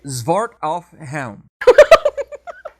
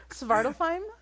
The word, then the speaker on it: Svartalfheim: Zwart auf Helm. Did I say it right or did I butcher that? Well, what were you trying to say? Svartalfheim?